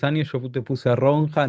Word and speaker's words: Ronja: Yo te puse a Ronja 9 89. Yo te puse Ronja para 910. Florencia Ronia en realidad es la se pronuncia.